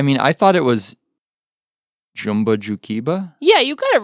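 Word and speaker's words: Jumba Jookiba: I mean, I thought it was Jumba Jukiba. Yeah, you got it right. Jumba Jukiba. Okay. Yep, pretty easy. It's phonetic there.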